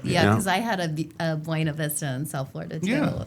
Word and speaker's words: Buena Vista: It's Buena Vista. Okay, Because okay. that's how it's pronounced.